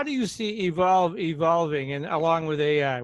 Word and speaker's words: EVQLV: the stove in nineteen contagion right anyway so evolve how do you see evolve evolving and along with a we're just going